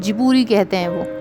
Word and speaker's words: Ghibli: In English pronunciation, even Japanese people are saying Ghibli. But if you listen to the pronunciation of the founder of Ghibli studio, Miyazaki, then it is called Jiburi.